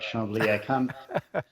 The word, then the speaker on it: Chambly: By the way, I'm impressed by your pronunciation, Echo. You got it right. Chambly.